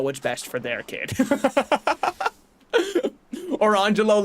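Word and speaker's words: Orangejello: who named her twins Orangelo and Lamangelo. And you might say, oh, what are they named after? Yeah, it is spelled orange jello and lemon jello.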